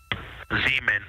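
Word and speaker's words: Zeman: Zemen. Okay. And can you say the first letter? I may be pronouncing that wrong.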